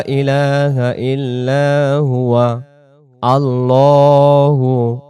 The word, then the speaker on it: আল্লাহু: আল্লাহু লা ইলাহা ইল্লা হুয়া। আল্লাহু লা ইলাহা ইল্লা হুয়া। আল্লাহু, আল্লাহ না, আল্লাহু। আল্লাহ শব্দের ডান দিকে জবর থাকলে আল্লাহ শব্দের লামটাকে তখন লাম